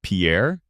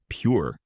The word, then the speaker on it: Pierre: South Dakota Pierre wrong she kept saying Pierre two syllables like the French name and he said it was pure one syllable like what you fish off of he